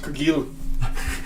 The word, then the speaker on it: Cargill: It's pronounced Cargill. Oh, it's French.